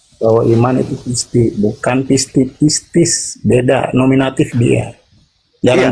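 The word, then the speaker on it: πίστις: Yesus adalah Tuhan, lalu apa yang dikatakannya itu diucapkan dengan sepenuh hati, dipercaya dengan sepenuh hati, maka dia akan diselamatkan. Pisti. Pistis, bukan Oke.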